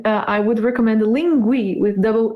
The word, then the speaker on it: Linguee: i would in uh i would recommend the linguie with double e in the end lingui lingui um gives you uh pronunciation as well you know in american english